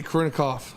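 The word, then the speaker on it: Karina Kopf: But did you see Karina Komp? Is that how you say her name? Yeah, Corinna Koff.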